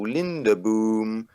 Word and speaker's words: Lindeboom: mj trips with uh lindebon which is a that's my people my name is is very hard to pronounce in most languages besides dutch so yeah no one's